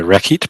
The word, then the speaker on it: rekhyt: Like it's still R, H, double Y, and then they spell the T out, which our scribe doesn't write because, hey, we're Dynasty 20, so the T is not pronounced.